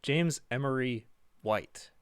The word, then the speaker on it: James Emery White: does his homework uh james emery right really white sorry james emery white that's how you say it he definitely knows what